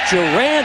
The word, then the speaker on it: Duran: You'll see a lot of shotgun, a lot of inside handoffs, working things around reverses, and it's Duran Walker. That's how you pronounce it.